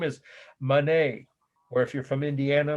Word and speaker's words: Monet: luncheon on the grass the artist's name is monet or if you're from indiana like my favorite